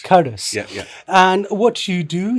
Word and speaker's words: Qardus: Am I pronouncing it correctly, Hassan? Qardus. Qardus.